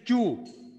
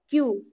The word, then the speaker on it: queue: long queue it is queue just pronounce it like this letter queue हाँ queue yes it seemed not